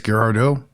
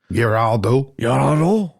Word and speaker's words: Girardeau: Girardeau sounds French. Yeah, definitely. I think it's Girardeau. Girardeau.